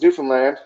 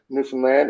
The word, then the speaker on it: Newfoundland: it's pretty uh it's newfoundland so the easiest way i say it is uh is that you say understand newfoundland and uh then you you've got it down okay so if you understand newfoundland there you go you